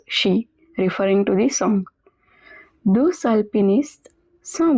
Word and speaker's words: deux alpinistes: Deux alpinistes sont bloqués dans une tempête de neige. Over here there is a liaison between deux and alpiniste, so the X at the end is also pronounced. Deux alpinistes.